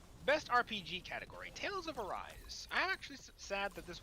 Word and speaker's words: Arise: I said, Tales of Arise. Which I learned only at the Game Awards. I've been pronouncing incorrectly this entire time. I've been calling it Tales of Arsane for so long, and I don't know why, but I did!